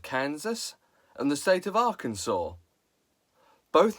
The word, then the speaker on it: Arkansas: But the land was colonialised by the French, who naturally do not pronounce the S at the end of words. So the land became Arkansas.